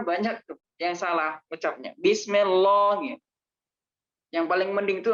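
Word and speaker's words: بسم الله: Nah, bismillah itu tipis, bukan tebal. Kalau bismillah itu jadinya tebal. Tapi orang-orang sana banyak tuh yang salah ucapnya. Bismillah.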